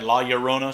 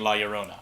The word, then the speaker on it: La Llorona: pronouncing her name right, La Llorona, so double L, so it makes Y sound or something. Correct me if I'm wrong. Maybe I heard it's also probably be a CH sound, but I'm pronouncing it La Llorona.